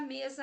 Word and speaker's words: mesa: Vamos fortalecer o me e pronunciar fraquinho a palavra za? Olha só o que acontece. Mesa. Legal, né? Soou legal.